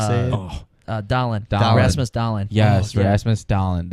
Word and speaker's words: Rasmus Dahlin: Rasmus Dahlin.